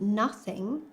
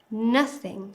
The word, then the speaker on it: nothing: But for things, the word stress is on thing. So we say nothing, like that. Not no thing, nothing.